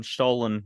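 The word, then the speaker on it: Stollen: forward to uh when stolin will be available when what will be available sorry what stolen ah yeah right did I say it did I say it correctly yeah you you said it well I just uh it's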